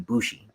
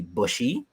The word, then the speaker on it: Boujii: the Tommy being bushie people would like butcher the name so badly like I would be bushy uh buai and for some reason people would say bougie and that that's the